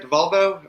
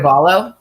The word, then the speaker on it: Diavallo: Divalvo? How do you say it? Diavallo. So it's Yeah. Diavallo.